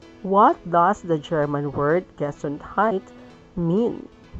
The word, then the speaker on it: Gesundheit: If someone nearby sneezes, remember to tell them Gesundheit. That is a funny-looking word which is pronounced Gesundheit.